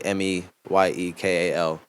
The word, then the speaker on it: Meyekal: My name is spelt artistically Meyekal, as opposed to the traditional spelling of Michael for the I in the middle there.